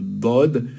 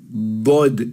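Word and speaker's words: ضاد: Dod est une lettre grave, alors que la lettre Del est une lettre aiguë.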